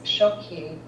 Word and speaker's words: shokhí: You know, there's a word in our language, it's shoki, and it means to return to one's home. I mean, two syllables, right? Shoki.